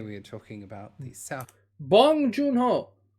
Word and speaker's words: Bong Joon-ho: talking about the South bong joon-ho that's how it's pronounced in korean korean film parasite directed